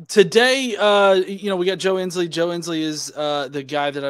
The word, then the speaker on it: Joe Ensley: I'm the Godless Engineer, and today we have Joe Ensley. Am I pronouncing your last name right? You got it. Joe Ensley.